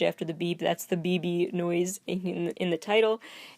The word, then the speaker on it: Bbi Bbi: particularly well in the BB video that's spelled BBI BBI like this the sound a pager makes or something the sound a phone